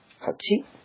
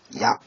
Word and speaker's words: 八: This is pronounced in the on reading. Hachi. And the kun reading. Ya.